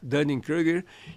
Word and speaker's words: Dunning-Kruger: Como é que é a pronúncia? Dunning-Kruger.